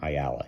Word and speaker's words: Ayala: Ayala, is that how you say his name? Ayala, yeah.